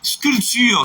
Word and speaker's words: sculpture: Donc, un autre mot aussi, sculpture, super. Sculpter, sculpture. D'ailleurs, c'est le nom dérivé du mot, et on pourrait ajouter aussi sculpteur, grand frère. Donc, dans tous ces mots, le P ne se prononce pas.